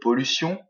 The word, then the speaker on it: pollution: Certains m'ont parlé de pollution, d'accord. C'est la deuxième syllabe qui est accentuée.